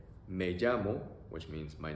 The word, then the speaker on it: me llamo: And to respond to that question, you can say me llamo, which means my name is, or I call myself. Pronunciation, E-A-O. Me llamo. Me llamo.